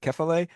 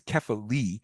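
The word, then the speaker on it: kephalē: And by the way, often in the past I've said Keilelet, it's Keale. I've been really practicing to make sure I say it correctly, but Kefily uh which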